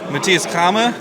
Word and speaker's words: Matthias Cramer: Alexander and I'm Grant and we're here with Matias kmer hello nice did I pronounce it right yes very good so he